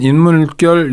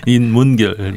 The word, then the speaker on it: 인문결: 네, 그리고 저희 처음 모셨는데 임상훈 인물결 연구소장님 오셨습니다. 어서 오십시오. 네, 안녕하십니까. 근데 제가 단체 이름을 정확히 발음하지 못해 죄송합니다. 네. 인물결이 아니고요. 인문결.